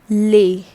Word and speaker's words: les: case with the lay how is it pronounced lay all right so this